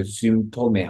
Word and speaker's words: Symptome: Y는 이게 의 발음 된다고 해서 저희 Symptome 하면 언제부터 이런 증상들이 있었습니까?